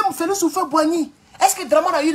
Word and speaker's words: Houphouët-Boigny: Donc souvent pour l'Ivoirien qui veut creuser, il va toujours tomber sur Houphouët-Boigny. C'est comme ça qu'on prononce son nom.